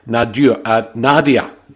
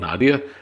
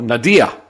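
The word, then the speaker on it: nadir: Tiger 5150, Nadia, not Nadia. I knew I was going to have trouble. Nadia, that's the word.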